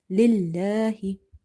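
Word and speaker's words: لِلَّهِ: Lillahi. So in the word lillahi, this letter lam in the word Allah is light. There is a fatha or dhamma before it, it's heavy, but here we have kasra, so we have to read it light.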